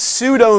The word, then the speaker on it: pseudo: You don't pronounce the P. It's not pseudo. It's just pseudo. What does pseudo mean?